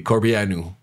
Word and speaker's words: Corbeanu: Puis il a dit à un gars, il a dit à notre producteur, Laszlo, il a dit c'est Corbeanu, parce que c'est roumain.